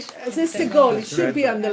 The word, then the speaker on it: Segol: that's, it's, it was Segol. segol, because it's the last syllable. There's only two syllables.